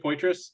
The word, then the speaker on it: Poitras: Did I pronounce that right? Poitras?